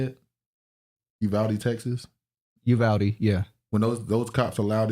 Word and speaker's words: Uvalde: Uvalde, yeah.